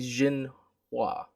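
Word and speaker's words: Xinhua: agency uh i think the x you pronounce is z i think jin hua on monday so yeah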